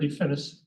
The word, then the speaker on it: DeFinis: DeFinis, D-E-F-I-N-I-S.